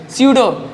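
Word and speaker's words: pseudo: इसे स्यूडो force भी कहा जाता है, इसको भी नोट कर ले, स्यूडो, इसमें पी साइलेंट रहता है, ठीक है, स्यूडो फोर्स,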